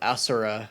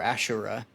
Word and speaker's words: Asura: And in different cultures, it's pronounced and spelled Asura or Ashura.